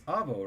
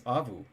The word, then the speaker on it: Avu: And it's Avo, right? No, it's Avu. Avu. That's how it's pronounced.